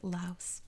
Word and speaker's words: Laos: So, of course, in America, we pronounce it in the same way that we pronounce the S in Paris, when it's actually Paris, right? So, it's acceptable to say Laos.